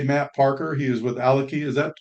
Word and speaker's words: Alaki: our guest today Matt Parker he is with alaki is that correct Matt is that how you pronounce it alaki yeah correct that's great well good to have